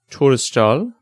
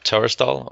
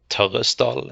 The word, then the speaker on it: Torresdal: we're talking to testal and I pronounced that incorrectly CU I'm not Norwegian but you can tell me how to pronounce your name yeah sure it's tural or tural in norian and thanks for having